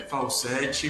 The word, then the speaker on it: Falcette: então nós vamos conversar ao vivo com o Arthur Falsetti, ou Falsetti, vou perguntar inclusive para ele agora se eu falei o nome dele correto. É Arthur Falsetti ou Falsetti? É Falsetti, bom dia, mas tanto faz, eu